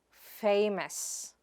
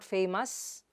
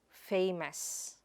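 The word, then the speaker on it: famous: How do you pronounce that? Tuerist. Repeat it after me, tuerist. The next word is fai-mes. It is not faimos, but fai-mes.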